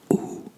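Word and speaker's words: hoe: word because I know in English you would pronounce this as ho ho but the this is an O and an e and this sound in Dutch um it sounds like ooh ooh like o e is ooh um so you would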